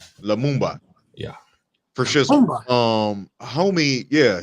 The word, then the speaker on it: Lumumba: Zamumba. With an L. Lumumba.